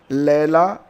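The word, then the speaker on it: Leila: तो Scottish author लैला अबोलेला को यह प्रदान किया गया है। इसे आप लीला पढ़ेंगे, लैला पढ़ेंगे, जो भी पढ़ना है पढ़िए।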